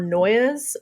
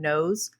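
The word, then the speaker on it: Noyes: of it again um his name's john humphrey knows or noise um what was that horny he was um i've heard his name pronounced a couple of different ways he still has descendants that are alive today and they pronounce her name knows um so i'm going to go with that but he founds this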